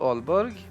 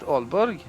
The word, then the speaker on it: Aalborg: Here at Aalborg, 2 A's being pronounced as Å in Scandinavian languages.